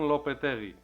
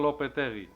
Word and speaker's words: Lopetegui: Low-Puh-Teh-Gee. Julen Lopetegui. Julio Lopetegui. Julen Lopetegui.